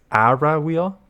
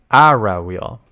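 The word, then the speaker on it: Aura Wheel: it's ARA ARA so it's not Aura it's ARA wheel okay ARA wheel it's not it's not how it's spelled okay clearly someone who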